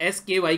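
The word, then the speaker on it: SKAI: इसका जो नाम रखा गया है वो स्काइस का नाम रखा गया है, प्रोनाउंस इसको आप लोग SKY करते हैं।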